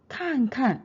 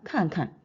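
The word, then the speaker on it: 看看: 동사를 중첩을 하게 되면은 똑같은 글자가 왔을 때 두 번째 동사는 경성으로 읽습니다. 그래서 看看 이게 아니라 看看看看 경성 형태로 읽으면서 의미는 시험 삼아 해보다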